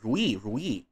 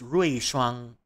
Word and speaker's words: Ruishuang: Lots of you, I notice, call me Rui, but the correct pronunciation is Ruishuang.